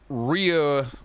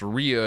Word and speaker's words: Rhea: Well, the first thing I learned is that Rhea Ripley's name is pronounced Rhea and not Rhea, so I've been saying it wrong for the whole time I've known her existence.